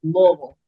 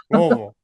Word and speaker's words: Louisville: I never know how to say You Louisville, gotta say it like you're drunk on bourbon. You gotta slur it. It's Louisville. Louisville, Louisville.